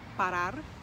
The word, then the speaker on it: parar: infinitive form for example the verb to stop means is parar the emphasis is on the last syllable so we say